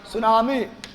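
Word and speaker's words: tsunami: मिर्गी भी एक नवंबर सुनामी 5 नवंबर सुनामी पांच नवंबर नंबर सुनामी को लिखते हैं टी साइलेंट सुनामी ये सुनामी है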